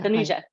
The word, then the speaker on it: Tanuja: Yeah, all the letters are pronounced. Hello. Tanuja. Hello. Yeah. Tanuja.